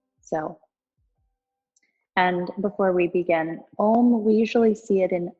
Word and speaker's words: Om: So taking a breath in, and when we exhale, it's good to pronounce the Ow, and then you close with the M.